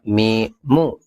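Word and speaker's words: ميم: tengah ini di akhir bunyinya kayak huruf M dalam bahasa Indonesia Ma mi mu namanya mim 25 ada huruf kayak gini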